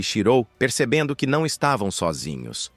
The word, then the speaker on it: Shirou: Não é Fujimaru Xirou. Xirou a corrigiu. Xirou, Fujimaru, Lúvia repetiu. Sim, Xirou, ele confirmou. Ah, a pronúncia desse nome japonês é tão estranha, comentou Lúvia antes de se virar para rim.